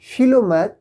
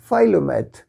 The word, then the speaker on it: philomath: इसको आप British pronunciation में कहेंगे फिलोमैथ, फिलोमैथ, और अमेरिकन प्रोनाउंसिएशन इसका होगा फाइलोमैथ, मतलब वन हु इंजॉयज लर्निंग, ठीक है।